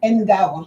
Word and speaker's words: Ngawa: It's Ngawa. Oh, Ngawa. But Ngawa, N is Silent. So it's Ngawa.